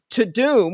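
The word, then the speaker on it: Tudum: on these netflix shows and movies okay uh to doom which is spelled t-u-d-u-m is the sound that the n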